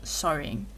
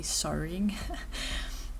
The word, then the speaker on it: sewing: I know now that it's sewing because Robin explained that it's it rhymes with going so when you say going you say sewing but there's a lot